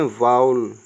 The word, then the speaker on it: vowel: ओ डब्लू ई एल इसको गलत उच्चारण करते हैं अभी तक ठीक है ना तो इसको हम बोलते हैं वाउल क्या पढ़ते हैं वाउल क्लियर तो आज से आप कभी भी इसको वावेल नहीं बोलेंगे यह है वाउल क्लियर